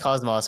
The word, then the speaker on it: Kocmoc: So Isn't it pronounced Cosmos properly? yeah, it's pronounced Cosmos, but I like to pronounce it Kocmoc because it's funnier.